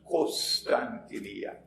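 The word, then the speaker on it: قسطنطينية: I pronounce it as Constantinia, but in Arabic they pronounce it as Constantinia. Kos, not Kon. Constantinia is closer to the original.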